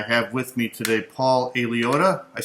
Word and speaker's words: Aliotta: website, and I have with me today Paul Aliotta. I said that name right, Paul? Yeah, close enough. Usually we pronounce it Aliotta, but... Aliotta, okay.